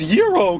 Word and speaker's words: gyros: It's pronounced yurro.